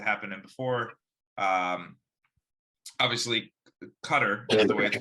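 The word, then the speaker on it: Qatar: the things that happened in before um obviously cutter is the way to pronounce some people say guitar um they there was rumors that FIFA which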